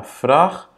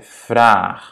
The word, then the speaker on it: vraag: C'est pas vrag, c'est vraag, ok? Et à nouveau, c'est donc parce que dans l'infinitif, donc la base du verbe, c'est vragen. On a A et pas A. Vragen, A. Ja? Et voilà, si on enlève le EN, ça va être vrag, le radical, supposément. Mais bon, c'est pas vrag, parce que la base du verbe, c'est vragen. Donc, il faut qu'on double le A pour garder ce son.